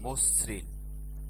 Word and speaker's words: মসৃণ: যেমন দেখো, মসৃণ, এখানে আদ্য অ রয়েছে ময়ের সাথে এবং তারপরে ঋকারযুক্ত ব্যঞ্জন বর্ণ থাকবার কারণেই আমরা আদ্য অকে ওকার করে দিয়েছি।